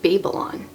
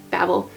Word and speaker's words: Babel: Babel versus Babel and even though the word Babble is usually spelled with two B's that is how this is supposed to be pronounced that is how the